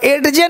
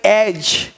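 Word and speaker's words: edge: ई डी जी है, अब एड जे नहीं पढ़ेंगे, ई डी जी एड जे, एड जे एड जे, ऐसे नहीं पढ़ेंगे, ये पढ़ेंगे एज, एज, यानी डी को साइलेंट कर दिया, एज, एज मतलब किनारा।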